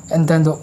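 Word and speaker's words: entente: बन गया the triple एंटेंट, ठीक है। इसको अलग तरीके से प्रोनाउंस भी करते हैं एंटेनो।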